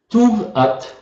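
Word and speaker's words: Tûv-At: Vous avez vu qu'il y a un petit accent circonflexe sur le U, ça se prononce OU. Donc si je dis 3 fois Tuv-At, Tuv-At, Tuv-At.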